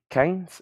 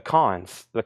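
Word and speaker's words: Cannes: The Canes? Is it not? The Cons.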